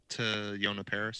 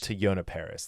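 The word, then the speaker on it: Teyonah Parris: To Yona Paris. To Yona Paris, thank you.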